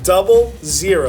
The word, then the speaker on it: 00: It's not pronounced ooh, no, 00.